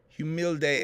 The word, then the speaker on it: humilde: Humilde entre. Humilde. H is silent.